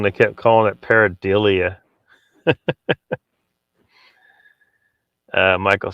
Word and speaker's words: pareidolia: Brandy says, and fuck off with that pareidolia word.